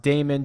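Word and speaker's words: Dahmen: which was Finau, and I actually think it's pronounced Damon, Joel Damon.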